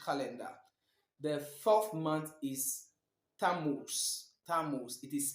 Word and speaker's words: Tammuz: The 4th month is Tammuz. Tammuz. It is spelled Tammuz.